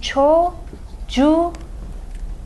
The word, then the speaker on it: çocuğun: suffix for your child So "çocuk" becomes "çocuğun" so that "k" became a yumuşak ğ because of the suffix that starts with a vowel, now every word in